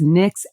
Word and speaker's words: Nyx: but this is I don't know how you pronounce it if it's NYX NYX it's the Nyx yeah and it's their